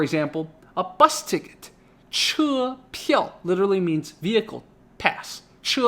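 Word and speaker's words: 票: something yo so P so always pup peel peel fourth tone so that's a pass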